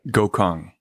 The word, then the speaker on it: Gocong: do you say your last name it's uh goong g o c o n g and um